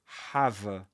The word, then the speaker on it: have: to have an accident, have a, you don't pronounce the E at the end, have a, with a schwa, is to have an